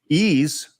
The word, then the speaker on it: Ys: that's pretty good stuff ease that's that's pronounced that's a Ys I've always thought that was weird that you pronounce it ease and uh lost in